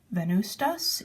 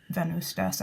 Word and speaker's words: Venvstas: It's called Venvstas, even though it has a V in the middle of the name. I believe it's pronounced like a U.